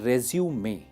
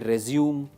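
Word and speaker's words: résumé: अच्छा, एक चीज पे आप ध्यान दीजिए, इस वर्ड की स्पेलिंग है रेज्यूमे, ठीक है। बहुत सारे कैंडिडेट्स प्रोनाउंसिएशन में गलती कर देते हैं, कहते हैं रेज्यूम, रेज्यूम, रिज्यूम। This is रेज्यूमे।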